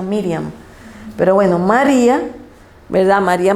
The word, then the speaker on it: Miriam: miriam dato curioso que el nombre de maría en hebreo se pronuncia miriam pero bueno maría verdad